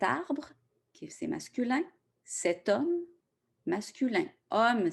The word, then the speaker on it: homme: Par exemple, cet arbre, qui c'est masculin, cet homme, masculin. Homme, c'est un H muet qu'on ne prononce pas.